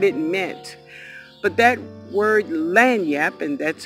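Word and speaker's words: lagniappe: word or what it meant but that word LAN yep and that's how you pronounce it it means a little extra just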